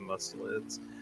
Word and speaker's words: mustelids: Their ferrets, I think, are mustelids.